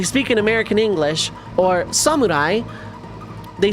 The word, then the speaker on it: samurai: You don't halfass a phonetic pronunciation of a word that is not English. It is samurai. Samurai like you know like you actually pronounce it like that. You don't you don't put emphasis on the R or samurai like go full American.